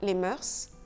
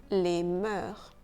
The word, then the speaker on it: mœurs: Et beaucoup ont tendance à prononcer le S final. Donc, on ne dit pas les mœurs, on dit les mœurs.